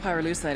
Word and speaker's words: pyrolusite: You know what pyrolusite is, right? Yeah, neither did I. Pyrolusite, key syllable pyro, by the way, is the shit they mine in Villa Verde province to turn coca leaves into high-quality cocaine.